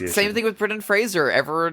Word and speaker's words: Fraser: to be like guys it's Fraser please just like Razer go please if we